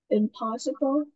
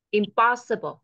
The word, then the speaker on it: impossible: con nó sẽ âm trọng âm nó rơi ở phía trước nè possible Impossible Ok con đọc là